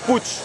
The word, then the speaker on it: Puig: bienvenue chez putsch alors ça s'écrit puig ça se prononce plus grand maroc mais en fait le nom c'est d'origine catalane est surprenant putsch en espagnol ou en catalan putschistes un fabricant d'une